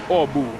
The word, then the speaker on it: Åbo: Language facts, in lap 4 of the race, in Swedish the O is pronounced, regular O is pronounced like U. So in Finnish we have a city called Turku, which in Swedish is Åbo, and it's written A with an accent on top, B, O, and it's pronounced in Swedish Åbo, which is the weirdest thing.